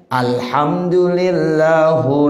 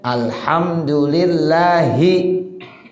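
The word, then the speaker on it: الحمدُ للهِ: Mestinya alhamdulillahi rabbil alamin. Sekarang dibaca alhamdulillahu rabbil alamin. Salah, walaupun tidak merusak artinya. Alhamdulillahi, alhamdulillahu masih sama artinya. Segala puji bagi Allah. Dibacanya lillahu, mestinya lillahi. Bacaannya salah.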